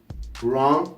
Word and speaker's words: wrong: Wrong, it's when something is not right, something's wrong. So usually when you see a word starting with the WR, the W it's not pronounced.